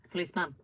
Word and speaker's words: policeman: But the thing is about policemen, it's not like you don't really pronounce the man that much. Policeman.